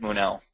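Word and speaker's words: Munaut: So the M-U-N-A-U-T, it's French-Belgian, so sometimes I have to help people with the spelling or the how you say it, but it's said Munel.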